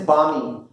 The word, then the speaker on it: balmy: Your spelling is बामी. या very good, जोरदार तालियां बजाते हैं. बामी में एल साइलेंट है, BALMY होता है, बामी पढ़ते हैं अंदर.